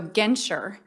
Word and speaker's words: Genter: craziest last names so genter is my maiden name and it rhymes with venture remember that department store but it's spelled differently or like denture but also spelled differently